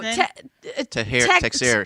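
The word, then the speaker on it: Teixeira: Triggers and No, Texiera.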